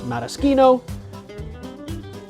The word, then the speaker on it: maraschino: into a hard cut so technically the correct pronunciation is modeski no but I'm a little less stringent with that